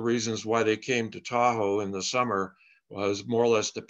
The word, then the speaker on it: Tahoe: lake and of course anglo-americans heard the first two syllables to owl and that kind of got turned into tahoe which did rhyme with washoe and that's how uh